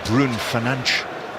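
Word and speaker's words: Bruno Fernandes: through for for Bruno Fernandez or Brun Fernanch as he calls him when they they show us the correct pronunciations.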